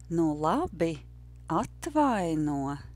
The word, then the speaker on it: nu labi, atvaino: So you can practice sounding like a native and saying, nu labi, atvaino, which was our phrase. Nu labi, atvaino. Nu labi, atvaino. The rhythm is no, yes, no, yes, no, no.